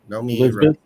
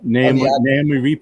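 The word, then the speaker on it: Noomi: Nomi right? Nomi Rapace, the actress. Naomi Rapace, yeah.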